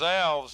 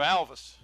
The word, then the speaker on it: Alvis: We thought it was Alves, and that's the way it's spelled, and there were some Alves that went through Kecoughtan High School, but no relation to Ray. And Ray says, I pronounce my name Alvis, so I'm not going to